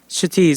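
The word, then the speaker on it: Kshitiz: name my name is chtis and it's spelled k s h i t i z now it yes it starts with the K and it's silent though you say but there's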